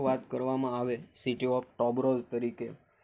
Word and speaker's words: Tobors: जो उच्चारण करो तो टॉबोर है ना, टॉबोर्स एम छे, પણ એને ખરેખર ટોબરો તરીકે છે એનું ઉચ્ચારણ કરવામાં આવે છે।